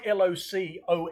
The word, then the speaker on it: LOCOE: Mine's L O C O E, which is loco, but more loco than your loco.